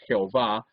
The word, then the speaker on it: Jehová: y h wv h que nosotros en español traducimos y pronunciamos jehová algunos dicen llave es el nombre de